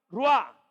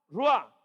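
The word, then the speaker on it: רוח: La palabra espíritu del hebreo se pronuncia ruá, ruá, y se traduce como viento, espíritu o aliento.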